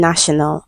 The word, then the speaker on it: national: So question eight is another consonant sound and the given word is national and letter T is on the line and this letter is pronounced sh and national.